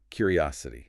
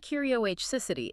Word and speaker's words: curiosity: It's a mouthful and I find that words that end in a futility often trip people up because the stress shifts from where it is in the root word. That is a brilliant point. Let's break. Down the root is curious, right? Where's the stress? Serious on the 1st syllable? Curious. Yep. But when we add the a litty to turn it into curiosity, the stress moves. It jumps forward.